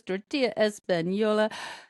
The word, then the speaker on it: tortilla Española: which makes the ease of preparing Trader Joe's tortilla Española Yes, that's how it's pronounced, all the more impressive.